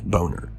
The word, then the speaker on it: Boner: And I say Bonner, it's it's spelled Boner. And I've seen interviews where he says Boner, but I didn't think